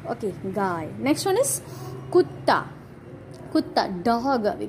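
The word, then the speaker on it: कुत्ता: One is half ta, second one is full ta. So kutta, kutta.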